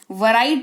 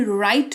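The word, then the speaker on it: write: वराइट नहीं राइट पढ़ेंगे, जिसका मतलब होता है लिखना।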